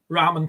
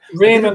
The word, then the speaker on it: Ramen: you pronounced go on you pronounce it properly Ramen toys Ramen toys Ramen um and then Raymond would have a y in it yeah um next